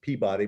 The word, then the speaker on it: Peabody: couple of unitarian women the peabody sisters peabody but they pronounce it peabody in massachusetts um become the first translators